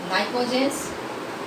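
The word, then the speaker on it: pnictogens: This is called the nicogens.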